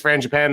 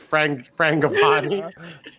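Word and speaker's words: Frangipane: talked about if it's Fran Japan or someone like that. But the longer this goes on, you start. Did I say it wrong? It's Frangipani.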